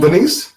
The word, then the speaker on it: Venice: And Vanessa, am I pronouncing her name right? Venice, Venice, yes.